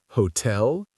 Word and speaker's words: hotel: Which syllable is stressed? The first or the second. And remember, a stressed syllable is generally louder and pronounced with more energy. So, which sounds more natural to you? Hotel, event, and police or hotel, event, police? The correct answer is B stressed on the second syllable.